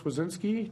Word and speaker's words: Swedzinski: All right, another frequent guest from Ghent, District 16A, Representative Chris Wazinski. Did I pronounce that correctly? Wazinski, yes.